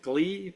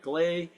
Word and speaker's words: gley: Some people pronounce it Gley, but Gley.